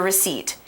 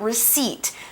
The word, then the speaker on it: receipt: today is the noun receipt spelled our ECE ipt receipt the P in that word is silent you don't say that letter a receipt is a